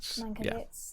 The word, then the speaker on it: Mankiewicz: oh what's his uh mankowitz is that how you say it yes mankovitz yeah and i thought